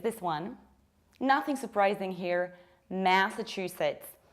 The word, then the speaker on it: Massachusetts: I don't say ma, I say ma. Massachusetts. Massachusetts, you push the first syllable.